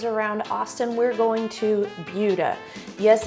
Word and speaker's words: Buda: Next stop on our tour of suburbs around Austin, we're going to Buda. Yes, it's pronounced with a Y, like B-Y-O-O-D-A instead of Buda, B-O-O-D-A, because that's the way it is.